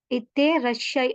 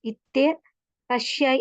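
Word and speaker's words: いってらっしゃい: Nice day அப்படின்னு சொல்றதுக்காக இத்தே ரஷ்ஷை அப்படின்னு சொல்லப்படும். இத்தே ரஷ்ஷை அப்படின்னு சொல்லப்படும். இந்த இடத்துல பாத்தீங்கன்னு சொன்னா 2 இட்ஸ் வரக்கூடியதா இருக்கும். 2 டபுள் கன்செப்ட் வரக்கூடியதாக காணப்படுது. ஆகவே 2 ஸ்மால் இட்ஸ் வரக்கூடியதாக காணப்படும். ஓகே.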